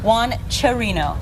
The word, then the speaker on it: Juan Cherino: Now I have to say it right, Juan Cherino.